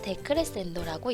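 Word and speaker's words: decrescendo: 읽을 때는 크레센도, 데크레센도라고 읽습니다.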